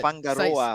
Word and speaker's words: Whangaroa: far north, New Zealand, Whangaroa. I think you got some stories about fishing in New Zealand, don't you? Oh, I've got a few. It's pronounced Whangaroa, apparently.